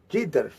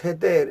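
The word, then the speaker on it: Jefté: Nos habla de un hombre llamado Jeter, que a veces le decimos Jeter, porque se escribe así como el nombre de Derek Jeter, pero es Jeter en español.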